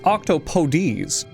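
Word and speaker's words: octopodes: name isn't Latin it's Greek technically the real pronunciation for them is octopodies and don't worry immediately switching to this pronunciation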